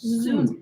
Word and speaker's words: zounds: It's pronounced Zoons. Well, it's because it's God's wounds.